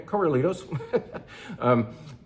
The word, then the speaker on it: Corralitos: Can we just say it like we're in California? Corralitos.